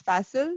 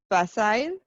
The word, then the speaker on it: facile: the day is facile americans would pronounce it as fassel britishers might pronounce it as facile the meaning is something